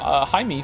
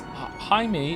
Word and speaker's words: Jaime: Jaime is pronounced in like the hide in Hideyoshi, but with an M.